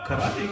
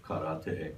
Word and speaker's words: karate: every portrayal of karate, it's always karate. Yeah, karate. Yeah. And then we're saying karate is how you pronounce it. And obviously, we speak Japanese. Oh, I speak Japanese. I went to school in Japan. Karate is how you're supposed to say it, but they say karate.